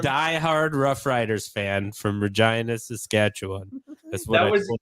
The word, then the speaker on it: Regina: Regina, where I'm from, is. Regina. That's where I was from. The city that rhymes with fun.